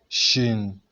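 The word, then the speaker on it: شين: We say Shin, like that, Shin.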